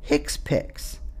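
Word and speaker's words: HCPCS: HC PCS level two which is pronounced hick piix healthc care common procedure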